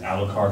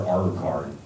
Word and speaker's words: Alucard: You know, the big battle about Alucard, is it Alucard or Alucard? It's Alucard, it's Dracula backwards, but, you know, you bet.